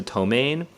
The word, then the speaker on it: ptomaine: notice, right next to ptomaine, there is that T-O with the dash above, and then the accent mark, and then the M-A with the dash above and the N. That's the pronunciation key, and you guys should